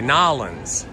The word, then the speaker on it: New Orleans: You know, we say New Orleans, some people say New Orleans, but if you're from there, you say Nolans. Nolans is how they say it down there.